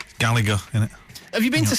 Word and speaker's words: Gallagher: Because your dad accosted me and Jimbo at the Etihad and said we're saying the name wrong and it should be Gallagher. Well, it is, really, but not if you're from Manchester. Gallagher, innit?